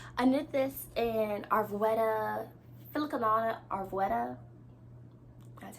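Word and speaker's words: Filcolana Arvetta: I don't know if you guys can tell, but I knit this in Arvetta, Filicanana Arvetta.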